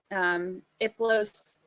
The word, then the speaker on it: Hiplos: Early June is when there's searches for Iplos. It's spelled Hiplos, but that's one of the demon names that they gave to Charles.